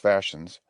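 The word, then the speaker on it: fascines: The fashions, pronounced fashions, are, as I said, bundles of brush bound snugly together, cut off straight at each end.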